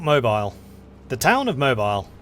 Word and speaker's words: Mobile: does americans pronounce this it's a french name so i want to say mobile but i think they might call it mobile nepal is capitulated to